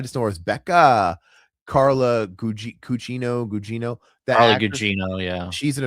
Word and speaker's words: Carla Gugino: Carla Gugino.